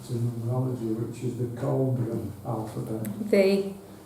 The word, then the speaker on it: Coelbren: which is related to numerology, which is the Colbran alphabet. It's spelled Coelbren.